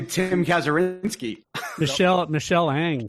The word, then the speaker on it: Kazurinsky: I was going to say Tim Kazurinsky. Michelle Ang. And by the way, that is how we pronounce his last name, because we totally mispronounced it in front of him on the show.